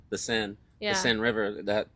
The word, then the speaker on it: Seine: I mean, they had all those triathletes swimming in the, I don't know how to pronounce the name of the river, Seine? the Seine, Yeah.